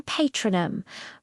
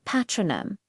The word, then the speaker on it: Patronum: The biggest change however is in patronom. Remember the British R sound in pet in many American accents. This becomes a flat a sound. The same audronom. Notice the difference. Patronom versus patronum. It's a subtle but distinct shift.